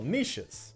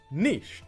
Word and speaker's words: niche: Ecosystems are divided into ecological niches. And yes, it is pronounced niche, not niche, Mr.